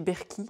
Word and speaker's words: Berkey: dééjeuner au-dessus de notre berket il faudrait d'ailleurs peut-être prononcer berky un peu comme livivice Nike ou Singer qui est donc notre